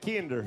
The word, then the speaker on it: Kinder: They say it like that, Kinder, if you're from Kinder.